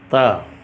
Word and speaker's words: ت: ट नहीं होता बल्कि त है। इसको अगर हम यहाँ पर एच भी लगा दें था, लेकिन त पढ़ना है इसको।